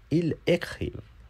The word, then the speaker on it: ils écrivent: vous écrivez, they write, ils écrivent, कभी भी एस नहीं प्रोनाउंस होता, ils écrivent, they write,